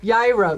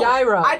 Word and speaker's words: gyro: Gyro. Euro. Oh! Gyro. Gyro with a G. No, right? Yeah, but you're not supposed to pronounce G.